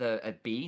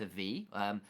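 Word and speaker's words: Ebi: and like Eva's name we're pronouncing it with a b not AV mainly because that's more of a japanese pronunciation and V and B are effectively the same letter in Japanese and what it may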